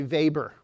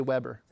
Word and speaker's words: Weber: But this is uh also referred to as a vapor. It it's it's it's pron it's spelled in the United States we'd say Weber, right? Okay. Yeah. That's a WB. Okay. But um Weber was a German and so that would be pronounced vber.